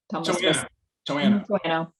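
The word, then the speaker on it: Toano: I'm glad you said Towano, because I was always wondering what the pronunciation was of that one. Yeah, Towano is Towano.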